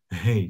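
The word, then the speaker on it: ה: Hey, this is how you pronounce it. Hey, like you say, like hey, house, right?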